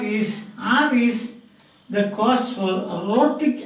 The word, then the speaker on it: rhotic: So rhotic means R like so.